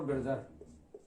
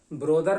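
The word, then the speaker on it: brother: उसी तरह ब्रोदर नहीं होता ये लफ्ज, ये लफ्ज होता है ब्रदर।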